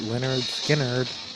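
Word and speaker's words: Lynyrd Skynyrd: That was Give Me Three Steps by Leonard Skard off of it's pronounced Leonard Skard.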